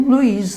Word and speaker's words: Luiz: É que de verdade, assim, muita gente que pronuncia Luiz, né? Luz. Apaga a luz aí, a luz. Isso é comum mesmo, esse I aparecer aí, né? Mas, de verdade, nós temos que ler com Luiz, né?